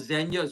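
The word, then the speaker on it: Zegna: this by zna people it's called zenya just but the way it's spelled is zna mediterran Roi when I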